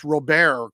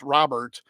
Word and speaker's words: Robert: me if I'm wrong it's Rober correct you don't pronounce Robert um vaugh has 13